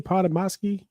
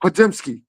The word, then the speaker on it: Podziemski: How you pronounce his name? Podomowski. man, I know you ain't talking about Podziemski.